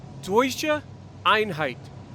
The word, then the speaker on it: Deutsche Einheit: And I did some research and I found out that German unity is pronounced Deutsche Einheit.